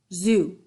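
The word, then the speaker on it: xu: years whoa tell me your next word zoo sounds like a z yeah most of the x words are pronounced like that what does it mean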